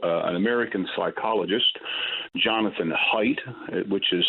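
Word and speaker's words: Haidt: Which brings me to uh an American psychologist Jonathan height which is spelled H A I DT T.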